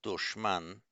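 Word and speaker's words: دشمن: And for any of you who know Persian, Urdu, Hindi, we have in Persian it's pronounced dushman, which is an enemy.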